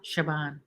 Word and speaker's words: Siobhan: like that name Siobhan I like how it's spelled not it that it's spelled s-i-o -b-e-h-a-n and it's proud Siobhan I like that name